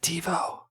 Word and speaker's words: TiVo: They pronounce it TiVo. That's the right way.